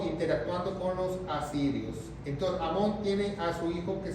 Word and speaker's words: Amón: Entonces Manasés tiene un hijo que se llamó Amón, con acento en la O, Amón, el 15.